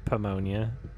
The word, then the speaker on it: pneumonia: I believe it's pronounced pomonia. Pomonia. The N is silent.